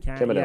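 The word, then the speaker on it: Kamino: Camino.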